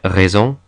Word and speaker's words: raison: S usually makes a soft s sound, like it does in English, but can also make a z sound, like in raison.